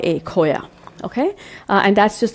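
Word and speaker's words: khoya: U frozen section you can often find it it's spelled k h o y a Coya okay uh and that's just the milk solid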